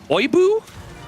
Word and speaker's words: Oibu: Flow, Power, and Oibu, I think is how you pronounce it. It is Oibu.